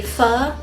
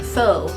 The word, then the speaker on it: Pho: kind of a fun story it's called a fur love story now Pho is spelled p-h-o so we phonetic people who taught second grade would have pronounced that faux love story but it's actually pronounced fur and